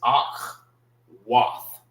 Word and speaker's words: Akwath: But the proper way of saying it, like if you're in the classes, you'll learn the proper way of how to say it. It's Ak, Wath.